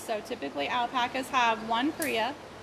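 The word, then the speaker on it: cria: typically alpacas have one Kaa Kaa is the name of an alpaca baby it's spelled c r i a so haia is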